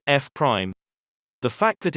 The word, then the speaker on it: F Prime: It's called pronounced F prime.